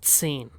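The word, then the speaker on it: zehn: And what is number 10? It is sane.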